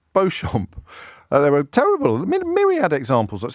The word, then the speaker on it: Beauchamp: Often their own names, like Chumley, which is pronounced Cholmondley, or Beecham, Beauchamp, which is spelled Beauchamp.